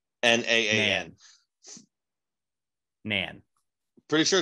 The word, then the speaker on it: naan: a nan disclosure agreement it's pronounced non n-a-a-n an pretty sure it's